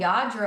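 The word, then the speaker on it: Lladró: a yro figure oh yadro I love that stuff for the listeners it's spelled l l d r o and it's uh from Spain I believe yeah and I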